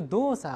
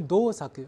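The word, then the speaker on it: 動作: 是念成 saku，但现在这个 dosa 中的作，它不是 dosaku，而是 dosa，所以它的发音呢不再是 saku，而是 sa。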